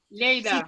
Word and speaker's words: Lleida: Lleida. Sí, lo dices bien.